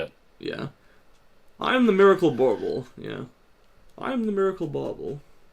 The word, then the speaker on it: Borble: You'll be able to get Pilcrow PhD present, Thoob Bauble, and that's spelled Borble. It's like a bauble, Bauble, but it's also a borb.